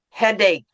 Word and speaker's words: headache: Headache. Headache. Headache. Headache. Yeah. Headache. Headache. When you when you see that word, it is not pronounced ch. It's pronounced k.